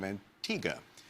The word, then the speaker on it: Antigua: Antigga.